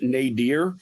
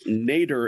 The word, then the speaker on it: Nader: I saying that right I pronounce it Nader which is apparently more commonly the UK pronunciation and in the US nater is an acceptable pronunciation however that just makes